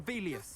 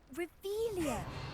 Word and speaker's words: Revelio: You're Revelius. saying it wrong. Ugh, Revelia.